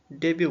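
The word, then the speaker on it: debut: डेब्यू बोलते हैं। ठीक है? डेब्यू में टी क्या होता है? साइलेंट होता है।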